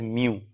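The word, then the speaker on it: μ: the symbol for micro इसे pronounce किया जा सकता है एज म्यू ठीक है जैसे बिल्ली मऊ करती है उस तरीके से म्यू राइट तो 1 माइक्रो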